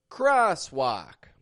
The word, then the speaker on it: crosswalk: while walking a crosswalk that's spelled with an o in Cross an A and walk but they both make the same sound one of them is